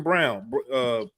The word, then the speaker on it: Braun: It's spelled Braun, but I think you spell it. You say it Brown though, right?